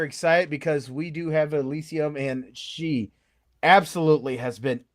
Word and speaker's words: Elysyum: And it's pronounced Elysyum, right? Yes. Yes, I haven't butchered it.